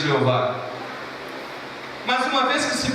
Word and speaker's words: Jeová: A pronúncia que nós temos hoje, Jeová, ela é pouco provável. Pouco provável. Porque pegaram as vogais da palavra Adonai e jogaram nessas 4 letras. Colocaram nessas 4 letras, dando Yehová, ou na nossa tradução, no nosso português, Jeová.